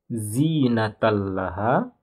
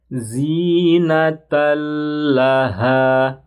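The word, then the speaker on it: زِينَةً لَهَا: Gimana bacanya? Jangan ditahan. Zinatallaha. Jangan dibaca zinatallaha. Yang benar zinatallaha. Zinatallaha. Jangan ditahan. Zinatallaha, yang ditahan salah ya.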